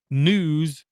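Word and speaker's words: Knews: my eye it's called news with a silent K K and ews local and world news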